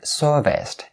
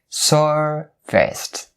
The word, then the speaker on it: serviced: So serviced, and remember, is all voiceless.